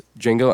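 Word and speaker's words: Django: kind of like it's D Jango but the D is silent and he just like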